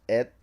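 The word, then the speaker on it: אד: believe that the mist, the word in Hebrew is pronounced et, aleph, dalet.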